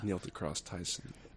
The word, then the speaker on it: Neil deGrasse Tyson: It's pronounced like the high school on the television show, as far as I'm aware. Neil deGrasse Tyson.